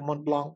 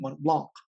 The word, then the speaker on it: Mont Blanc: So actually, for quite some time now, I've been thinking about getting a Mont Blanc. But the thing is it Mont Blanc? Or should I silently put T?